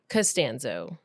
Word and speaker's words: Costanzo: whole podcast you know how I learned how to do it how to say it right how because George castanza who is that from Seinfeld oh so castanza castano and I can remember K castanza so I remember castano okay it's all about